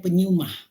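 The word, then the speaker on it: πνεῦμα: yunaninya penyu mah penelitiannya pneuma Tapi bacanya penyu mah Apa sih penyembah-penyembah itu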